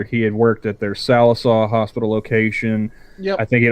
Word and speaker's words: Sallisaw: the articles specifically mentioned sawaso and then sawaso came back and went hol hold on hold on pronounce it like an oaky sal er saw sallisaw so it not